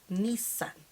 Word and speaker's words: Nissan: the Sun or how she said that Lisa the two s's were emphasized Nissan something like that this sun we say Nissan we say Nissan today